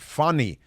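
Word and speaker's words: Fani: a Swahili first name, Fanny. No, you have to pronounce it Fanny, because that's how the Swahili pronounce it.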